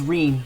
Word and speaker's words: Rene: My name's Rene. Rhymes with clean.